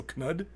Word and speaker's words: Knud: Christine, Nud, normal K, and the Nud is nude. So Knud, Nude Viking.